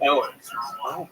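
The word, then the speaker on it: Eoghan: It's spelled E O G H A N. But it's pronounced Owen.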